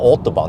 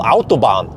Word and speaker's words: Autobahn: the germans know this it's not called autobahn it's called autobahn yeah and it's called